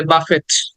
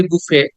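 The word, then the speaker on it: buffet: টি আছে অনেকে এটাকে টি দেখে মনে করে বাফেট অনেকে আমরা শুনে শুনে বলি বুফে কিন্তু উচ্চারণটা সে যখন শব্দটা দেখি ওখানে আবার টি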